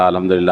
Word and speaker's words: الحمدللہ: ہاں ہے بعد میں، لیکن عام طور پر ہاں اڑا دی جاتی ہے، سبحان اللہ سبحان اللہ سبحان اللہ الحمدللہ الحمدللہ الحمدللہ الحمدللہ، غلط تلفظ ہے نا یہ، اس کی اصلاح کر لینا چاہیے بھائی۔ سبحان اللہ الحمدللہ آخر میں ہاں ہے، دھیان سے یہ تسبیح